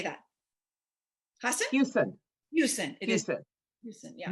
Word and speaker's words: Huson: Huson. It is Huson. Huson. Yeah. Nobody pronounces that right. Nobody. Houston, like Houston without the T.